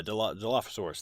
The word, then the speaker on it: Dilophosaurus: Yeah, Dilophosaurus, thank you.